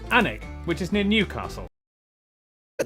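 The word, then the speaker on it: Alnwick: city called gotham okay before finishing up in alanwick anak which is near newcastle but that's just not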